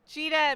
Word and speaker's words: Gita: Cheeta means a short trip in Italian and it's spelt gita and jitta takes lots of short trips the inspiration for